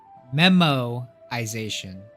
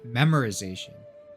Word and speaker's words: memoization: a while in college oh memoization not memorization which is like remembering memoization like a memo I thought my professor